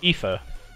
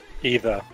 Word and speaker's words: aether: our currency is called ether or aether however it's pronounced a e th ER either ether or either either works what kind of thing